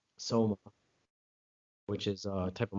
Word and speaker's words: Soma: And the way to remember not to prescribe it was Soma rhymes with coma.